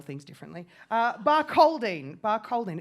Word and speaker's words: Barcaldine: Barcaldine. Barcaldine. It's spelled with a... Close enough. Barcaldine.